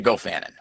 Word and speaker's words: Gofannon: The Goofan is the Welsh pronunciation. Um this gu was the Irish one which we kind of wanted originally, but I still can't pronounce that.